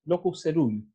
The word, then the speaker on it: locus coeruleus: Y por otra parte, esta región se llama locus coeruleus, que se pronuncia locus ceruleus.